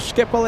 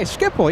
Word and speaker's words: Schiphol: Okay, DutchPlaneSeeker says, you said uh but Schiphol is better. Okay, Schiphol, yeah.